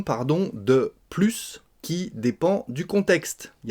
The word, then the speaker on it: plus: commençant par une consonne on ne prononcera pas ce s donc il n'y a plus de pain c'est négatif